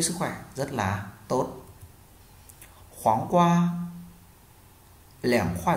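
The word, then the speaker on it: 黄瓜: Dưa chuột tiếng Trung người ta sẽ đọc là khoáng qua, khoáng qua.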